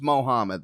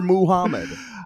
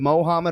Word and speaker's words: Mohammad: on your birth but it's not pronounced moo it's never pronounced moo but it spelled that